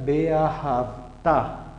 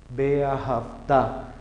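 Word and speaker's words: ואהבת: Miren, entre dos vocales no suena. Esta está entre estas dos vocales. Entonces queda Beahavta. Beahavta. Ahí tengo el ejemplo entonces también dentro de la lectura para las que no suenan.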